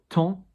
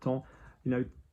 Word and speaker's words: temps: Body, corps, we don't pronounce the P or the S, corps. Temps, T-M-P-S, yeah, we don't, anything about time erasing or something like that. Temps, temps.